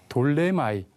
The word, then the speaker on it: 돌레마이: 떠나서 이제 항해가 끝났습니다 돌레마이 돌레마이 이게 프톨레마이오스인데 피를 묵음으로 발음하기 때문에 여기는 돌레마인데 프톨레마이오스 왕조가 지배했던 곳에